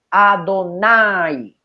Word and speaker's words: Adonai: manera el escriba tiene en mente que se pronunciara Adonai Y eso está evidenciado por los mismos que